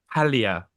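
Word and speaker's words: Paglia: that's what Camille um Pia you don't pronounce the G um Camille P Pia says you know they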